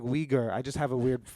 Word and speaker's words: Uyghur: Wigger. Wigger. Okay. Okay, cool. We're good. But I meant it like Uyghur.